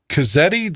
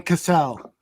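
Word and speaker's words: Cazale: Cazzetti, the guy that played Fredo? How do you say it? John Cassell.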